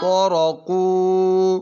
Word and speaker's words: طرقوا: قاف واو طرقू طرق अब बच्चों वाव के आगे अली भी लिखा हुआ है और वो साइलेंट होता है वो हमेशा साइलेंट यानी लिखा है लेकिन उसको पढ़ना नहीं है नहीं है अब पढ़ो طرق طرق